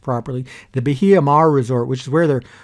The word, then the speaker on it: Bahia Mar: down to the biha the hiamar resort that's pronounced properly the bahia mar resort which is where they're holding the thing